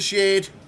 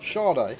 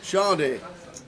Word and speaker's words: Sade: Shade. However you say it. How do you say it? Sade. Sade. She was a singer in the 80s.